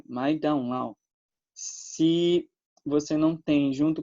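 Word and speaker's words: 麦当劳: a gente, né, McDonald's, para eles é algo que soa mais ou menos assim: Mai Dao Lao. Claro que eu não sei falar chinês e talvez eu esteja, né, com uma pronúncia muito ruim, mas é algo semelhante a isso, né? Mai Dao Lao.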